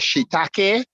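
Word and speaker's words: shiitake: um I I I keep hearing how you pronounce certain mushrooms but the mushroom is called shitake and the other is called Mii thank you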